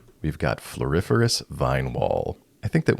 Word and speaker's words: floriferous: its name we've got floriferous Vine wall I think that what makes this card so fun to say is it's so close to Superfluous another great English word